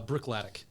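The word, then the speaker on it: Bruichladdich: go how do you say it again uh Brook latic okay Brook latic yeah so this one it uses only local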